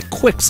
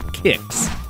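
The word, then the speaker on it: Qix: role playing games entirely I see people say Quicks a lot that's wrong it's actually pronounced kicks Paton is another game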